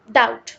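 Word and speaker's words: doubt: ओओ यू बी टी डाउट में हमारे पास बी जो है साइलेंट लेटर है उसको हमने रेड में कलर भी किया है ताकि आप लोगों को मालूम हो डाउट बी की जो आवाज है हम उसको बोलते नहीं है लेकिन जब हम डाउट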